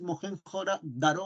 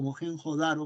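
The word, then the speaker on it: Mohenjo-daro: vas a poder respirar Esta es mojen daro o mohenjo daro como quieras pronunciarlo es una fotografía panorámica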